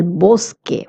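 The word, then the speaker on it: bosque: Now the word boske it is ending in q. Q U E is pronounced as K in Spanish and not qu. That's why I'm saying eloske.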